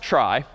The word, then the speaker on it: trie: that we'll call a try so try short for retrieval somehow t r i e but pronounced try and this one's kind